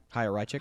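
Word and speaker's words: Chaya Raichik: Haya Rychik.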